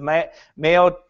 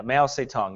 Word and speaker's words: Mao Zedong: are remarkably similar to the brainwashing methods of Mayo. I always say his name wrong. Mayo. How do you say that guy's name? Yeah, that guy. Yeah, that devil. That one, yeah. Yeah, Mao Zedong, yeah.